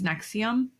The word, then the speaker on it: NXIVM: it a million times it's Nexium Nexium Nexium like the heartburn pill I think different spelling